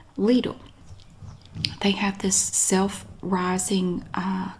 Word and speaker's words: Lidl: i've ever tried was it ladle and that is how you pronounce it here i have to say that every time i did clarify it with the company lidl they have this self-rising